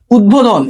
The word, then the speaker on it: উদ্বোধন: ওকে, 5 নম্বরটা দেখো, উদ উপসর্গ যোগে গঠিত শব্দের সাথে বফলার ব উচ্চারণ অবিকৃত থাকে। দেখো উদ্বেগ, উদ্বোধন, এখানে উদ উপসর্গ যোগে